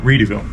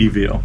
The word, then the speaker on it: Readyville: Reedyville. Yeah. Like, how do you spell that? READYVILLE. So Yep. it's like Ready Set Goville, but the founder of it is Reedy, Charles Reedy. So Charles it's Reedyville.